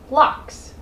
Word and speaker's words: Loch: They also have a lot of locks.